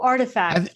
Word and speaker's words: RTFKT: How do you say that? Oh, Artifact. Artifact.